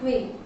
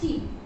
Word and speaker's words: quay: Went down the harbour and stood upon quay. Now see, Q-U-A-E, you can see the pronunciation in the yellow box. It's written that you have to pronounce it quay, not quay. So it is quay.